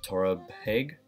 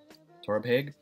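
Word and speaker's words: Torabhaig: so be it but I believe it's pronounced but Torah peg Torah peg and yeah that's gonna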